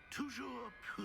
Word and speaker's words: Toujours pure: Toujours pure.